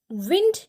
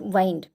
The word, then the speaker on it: wind: तो WIND इसे pronounce करते हैं विंड, जिसका मतलब होता है हवा, और WIND इसे हम वाइंड भी प्रोनाउंस करते हैं, जिसका मतलब होता है गोल गोल लपकर रखना, राइट।